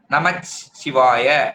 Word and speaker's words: நமச்சிவாய: ஆனா நம்ம எழுதும் போதும் உச்சரிக்கும் போதும் இச்சு சொல்லிதான் சொல்லுவோம், நமச்சிவாய அப்படின்னு சொல்லுவோம்.